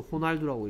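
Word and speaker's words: Ronaldo: 그 다음에 로날드는 이거는 이제 나라에 따라서 로날드라고 읽는 나라도 있고요. 미국이나 영국 같은 나라 로날드라고 있고요. 뭐 스페인이나 멕시코, 멕시코도 스페인어 쓰는 거 아시죠? 이런 나라는 얘를 뭐라고 읽어요? 그렇죠. 호날두라고 읽죠.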